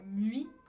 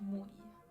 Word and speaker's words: mui: Vous lisez Mui, mais en hawaïen, ça se prononce Mui.